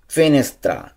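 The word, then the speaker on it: finestra: জানালা, ফিনেস্ত্রা। ফিনেস্ত্রা জানালা, ফিনেস্ত্রা জানালা।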